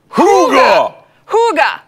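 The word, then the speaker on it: hygge: called hooga hooga hooga how do you say it hoo hoo gah okay which is spelled not what you would think at all it spelled h y GG e water of a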